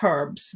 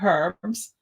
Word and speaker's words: herbs: the immune system with herbs now i grew up saying herbs and i hear lots of americans especially herbs yeah i don't know watch on it and i never heard that it is silent yeah growing up in